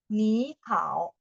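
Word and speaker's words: 你好: Tetap tulisnya nada 3. Tapi bacanya huruf depannya jadi 2. Ni hao.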